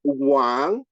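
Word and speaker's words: 王: right you have a Chinese character that is pronounced Wang and Wang means king or Sovereign so I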